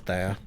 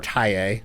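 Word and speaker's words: Thaye: I would like see I have I I kind of have a lovehate relationship with Thea or or or Tae as the correct pronunciation is.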